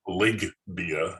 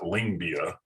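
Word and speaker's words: Lyngbya: he was talking about he kept saying lig bia and not lingbia and i just think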